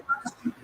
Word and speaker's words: Fauci: Just pronounce it properly, please, because his name is quite longer, but he's famously known by this name. So get this correct spelling and you will get your marks. Or you can pronounce it properly also, you know. It's Dr. Fauci, Fauci.